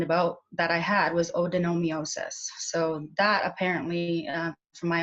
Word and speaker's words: adenomyosis: I'm pronouncing it correctly, adenomyosis. Can you Very, very close. Yes, it's odenomyosis.